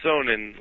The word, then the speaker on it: Sonnen: Yeah, it's Sonnen. Like sun in, not Sonnen.